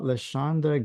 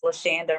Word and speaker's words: LaShanda: LaShonda. Yes, it's Lashanda rhymes with Pam.